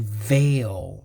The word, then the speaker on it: veil: let's do one more uh we're gonna do veil veil i should do you know i should